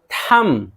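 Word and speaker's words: thumb: थम, थम देखिए बी साइलेंट है, अंगूठा।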